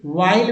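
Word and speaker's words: while: वाइल में देखिए, वाइल में सीधा एच जो है साइलेंट है। डब्ल्यू के जितने सारे वर्ड है उस समय साइलेंट होता है, जैसे वॉट, वेन, है ना, वाई, हु। इस समय क्या है कि एच जो है साइलेंट है डब्ल्यू के बाद वाला।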